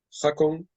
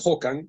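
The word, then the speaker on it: Håkan: han consistido su vida vuelvo a leer jacon exactamente es hokan porque es sueco ahora lo diremos la pronunciación es rara hokan comenzó a hablar haciendo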